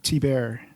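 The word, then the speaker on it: Thibert: although although I think he pronounces his name t bear oh is that right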